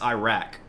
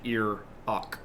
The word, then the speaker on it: Iraq: Except it's not pronounced Iran. It's not a past tense sentence. Neither is Iraq. It's ear on and ear ok.